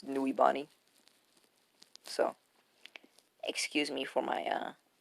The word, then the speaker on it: Nuibari: That's not how you say Nuribani. It's Nuibani.